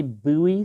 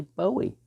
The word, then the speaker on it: Bowie: tough sometimes i'll say buoy sometimes i'll say bowie tough live with it